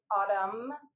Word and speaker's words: autumn: Sometimes you're going to see MN and the N, autumn, the N is silent.